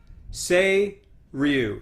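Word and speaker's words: Seiryu: I pronounce it Say-Ryu.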